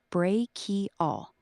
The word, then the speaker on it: brachial: The H makes a K sound, like in Christmas or Chrome. So it sounds like brachial.